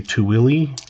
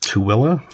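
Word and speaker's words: Tooele: There's a lot of places like that that there's one that most people say Tilly or Tuli. It's actually pronounced Tilla.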